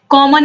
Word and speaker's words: calm: हैं जो साइलेंट हैं, जैसे यहाँ पर काम लिखा हुआ है तो CALM स्पेलिंग है लेकिन L का उच्चारण नहीं हो रहा, काम CAM हो